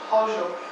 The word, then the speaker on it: Chorzów: So how would I pronounce the first word? Chorzów? Chorzów.